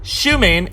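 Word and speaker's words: Xiumin: Ever wonder what an X sounds like? Well, it's an sh sound, not an X sound. Shumin and Shia Junzu.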